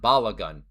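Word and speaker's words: Balogun: His name is pronounced Bal Laun. Balagun.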